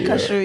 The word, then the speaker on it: Kazuo: Kazuo Ishiguro. Kashu. You gotta say Kashu Ishiguro. Okay.